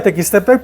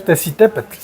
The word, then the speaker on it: Tequistepec: Sí, este ya es eh se pronuncia Tequistepec, pero ya es eh ya es corrompido el nombre, ¿no? Debe decir Tesitepec, pero este ya sufre una descomposición la pronunciación y entonces pues tequistec decimos ahora.